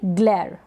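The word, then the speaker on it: glare: पढ़ेंगे ग्लर क्या पढ़ेंगे ग्लेयर ई का उच्चारण नहीं हो रहा लास्ट में इ को नहीं पढ़ रहे हैं ग्लास या ग्लास इसको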